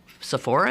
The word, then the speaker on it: Sephora: know I've often I've walked into a SE Sephora is that how it's pronounced yeah I've walked in there maybe needing